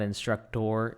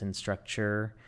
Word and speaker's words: Instructure: It's not instructor, it's instructure.